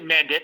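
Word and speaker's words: Mandić: So it's actually Mandic because it's like that soft C for the Eastern European stuff because MANDIC with the little thing underneath. So it looks like Ivana Mandic.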